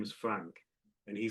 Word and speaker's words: Frank: and his name is Frank. And he said, "Why do we pronounce Frank like there's a silent G in it." And he meant before the K because, you know, we don't say Frank, you know, we say Frank.